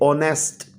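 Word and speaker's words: honest: फिर ऑनेस्ट, इसमें H silent है, हम प्रोनाउंस करते हैं ओ से, ऑनेस्ट।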